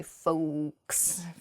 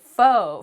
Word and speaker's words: faux: next word is pho pho has an X at the end when it's spelled on paper but we do not say folks Oh folks we don't say that we say pho pho means fake pho